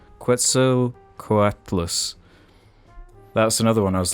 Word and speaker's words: Quetzalcoatlus: case in point the quetzalcoatus let me try that again quetzalcoatlus that's another one i